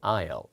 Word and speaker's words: aisle: 예, 발음 조심해야 되죠. 예, 통로라고 할 때 aisle 이거.